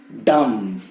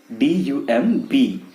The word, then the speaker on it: dumb: Next is डम. DUMB, but again pronounced as dumb. बोल नहीं पाता है, बहुत stupid. Don't act dumb यार. It is not dumb but dumb.